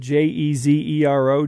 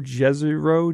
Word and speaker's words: Jezero: at like jezero crater it's spelled j-e-z-e-r-o jezreau jezero right whatever whatever floats your boat there's a crater there